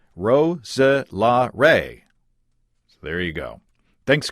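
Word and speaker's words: Roeselare: This word has got 4 syllables. Roselare.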